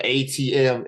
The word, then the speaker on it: AyeTeeM: it is that people be doing uh so a TM a ye t m on Twitter well yeah